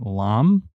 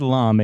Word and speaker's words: Lahm: is it Lam? It is rhymes with calm. So Lom, a New York City